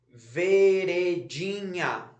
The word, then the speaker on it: veredinha: o ou você fala veredinha você fala ver idinha então a sílaba mais forte não é a última sílaba é a penúltima sílaba é o dia que está destacado aqui então se está na penúltima sílaba ela é paroxítona agora você vai fazer